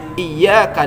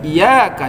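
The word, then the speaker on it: إياك: Seharusnya "iyyaka na'budu," tapi dia membacanya "iyaka na'budu."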